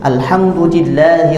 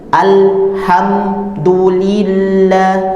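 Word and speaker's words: الحمد لله: Contoh yang biasanya keliru, alhamdulillah. Nah, tidak demikian. Bacanya alhamdulillahi.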